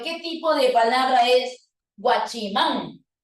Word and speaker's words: guachimán: tipo de palabra es guachimán bueno es una palabra de tipo aguda y las agudas que terminan en N qué necesitan tie des